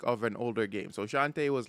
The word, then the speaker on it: Shantae: Is it Shanti or Shantae? Shantae.